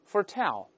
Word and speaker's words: foretell: 生，对，我们大声再读一下 foretell， predict，动词重音一般在后面。